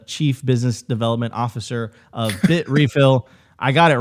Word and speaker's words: Bitrefill: He is the Chief Business Development Officer of Bitrefill.